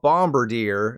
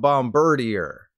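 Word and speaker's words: Bombirdier: from the sky is called bomber deer not Bombardier so think of a deer when saying this Pokemon's name and not a bird because that makes sense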